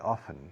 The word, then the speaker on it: often: Y ahí la T es muda, soften. ¿Con qué frecuencia suavizas la ropa? How often do you soften the clothes? Okay. No se dice soften, así que no se debería decir tampoco often. Often.